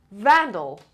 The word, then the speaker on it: vandal: between making number seven vandal vandal and the stress is on the first level so vandal vandal said